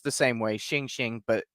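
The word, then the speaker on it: xing xing: these creatures are known as shing shing or pronounced the same way shing shing but x i n g which means alive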